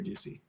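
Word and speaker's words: Doocy: It's Peter Ducey. His name is Peter Ducey. How do you spell that last name?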